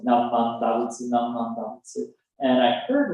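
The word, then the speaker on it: Namu Amida Butsu: They're going to say, Namman Dabutsu, Namman Dabutsu, Namman Dabutsu. And I said, Namman Dabutsu.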